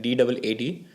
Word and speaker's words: DAAD: So one website that you could definitely refer, that's also by the German government, is DAD, pronounces like DAAD.